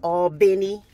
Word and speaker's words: Albany: from Albany Georgia and she says all Benny like Benny b-e-n-n-y I suppose a lot